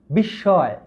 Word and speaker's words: বিস্ময়: যদি শব্দের মাঝে বা শেষে ম ফলা থাকে তাহলে ওই মটি উচ্চারিত হয় না।